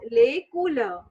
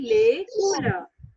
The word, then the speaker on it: les couleurs: So the heading is lay cooler. Cooler. Okay. Lay cooler. है भैया. Lake. Yeah. Lay cooler. Yeah. All of you say 2 times. Lake Lay cooler. cooler. है भैया. Lay cooler.